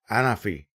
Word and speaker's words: Anafi: design and now the anafi or anafi as it is pronounced apparently in France so let me give